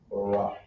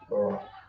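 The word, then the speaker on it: ברך: We have bless, which is pronounced Barak. Barak.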